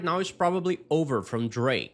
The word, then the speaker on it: Drake: Repara que quando ela fala o nome do Drake, o K praticamente some. Ela não força esse som no final.